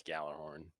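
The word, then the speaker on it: Gjallarhorn: can stay dead that's how you're supposed to pronounce it perk i don't care california um it's gallarhorn so i know i noticed necrochasm is in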